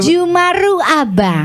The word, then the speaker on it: Jeumaroe Abang: Bacanya gitu ya, Jumaru ya? Iya, ini Jumaru Abang.